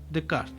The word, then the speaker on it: Descartes: Y en una visión cartesiana, que esto es debido este al pensamiento de René Descartes, ¿y cómo se pronuncia, señor productor? Decart. Bien.